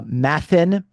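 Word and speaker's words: μαθεῖν: Um uh and and actually the the verb for learning in Greek uh mathan uh is actually uh it rhymes with the verb for suffering pathn. Okay. So matan and pathan.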